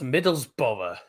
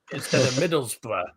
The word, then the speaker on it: Middlesbrough: get loads of people coming up calling us Middlesboro Middlesbrough and people spell it as middles bow on Middle's bow on